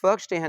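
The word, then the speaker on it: Verstehen: अब ये जो लफ्ज़ फर्स्टेहन है मेरे बेटे, ये बेसिकली जर्मन वर्ड है। फर्स्टेहन, वैसे तो ये वर्स्टेहन लिखा हुआ है, लेकिन अगर आप इसको एग्जैक्टली जो इसकी प्रोनाउंसिएशन वो क्या बन जाएगी? फर्स्टेहन।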